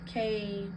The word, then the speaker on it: Kuan Yin: YIN, you can pronounce it as KWAN-YIN.